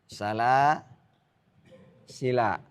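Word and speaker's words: سلاسلا: Jika diwasalkan maka alifnya tidak dibaca. Jika diwakafkan boleh dengan 2 cara. Kata apa tadi ini? Nah, ini saya hapus ya, nggak apa-apa ya. Salah sila. Salah sila. Nah, di sini dia alamnya ini. Nah, kalau kita wasal harus dibaca pendek, nggak boleh panjang.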